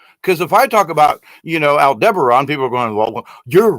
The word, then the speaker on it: Aldebaran: Because if I talk about, Aldebaran, people are going, well, you're wrong.